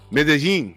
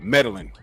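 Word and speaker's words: Medellín: 2 L's is 2 L's is the Y sound. Medellin. Okay, got it. So now, you know how we pronounce it in America? Meddling.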